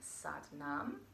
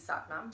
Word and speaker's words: Sat Nam: It is pronounced to rhyme with but mom. So, if you would like one of these Sat Nam tank tops or any